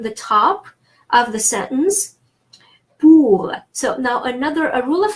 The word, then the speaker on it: pour: Pour is an exception, the final R is pronounced, and il is an exception, the final L is pronounced.